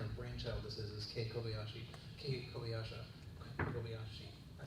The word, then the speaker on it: Kobayashi: One of the so I don't think we've named him yet, but the person whose kind of brainchild this is Kei Kobayashi.